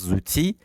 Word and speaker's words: outil: apporter simplement vos outils d'écriture. outil که الش تلفظ نمیشه یعنی ابزار، وسیله.